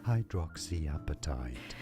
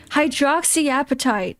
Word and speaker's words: hydroxyapatite: Hydroxyapatite. Hydroxyapatite. There we go. The nanohydroxyapatite. Got it. You just pronounce it the way it's written.